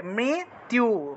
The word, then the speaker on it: মৃত্যু: মৃত্যু যে শব্দটা আছে, মৃত্যু, তয় রস্যকার জফলা, এটাকে কীভাবে উচ্চারণ করবেন? এইভাবে, মৃত্যু, মৃত্যু, এইভাবে উচ্চারণ করতে হয়।